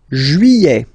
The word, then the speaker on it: juillet: Juillet. Okay, you get this double L here. Juillet. Juillet. Don't pronounce this final T, E-T here at the end.